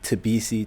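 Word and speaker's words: Mthabisi: Most people know me as only because the M in my name is silent. So people went from Tabisi to.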